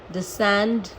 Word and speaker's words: descend: तो एस के संग अगर सी आता है तो वो साइलेंट ही रहता है, और अगर के